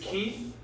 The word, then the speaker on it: Keith: My name is Keith. That rhymes with queef.